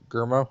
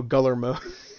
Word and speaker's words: Guillermo: That's how I thought Guillermo was pronounced. Guillermo? No, Guillermo.